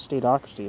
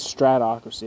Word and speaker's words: stratocracy: quote State excuse me have I been pronouncing this wrong I thought it was stracy it says stratocracy here one second it is stratocracy I've been saying it wrong I'm sorry stratocracy where